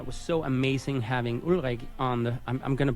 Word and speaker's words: Ulrik: So guys, one of the reasons I thought Ulrik, which is, the Danish pronunciation of his name, but Ulrik, the reason